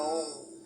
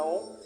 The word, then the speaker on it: Om: Se vocês percebem aqui, ó, segundo conta-se, a verdadeira maneira de se pronunciar o mantra Om é fazendo, né, o biquinho do peixe, né, boquinha de peixe.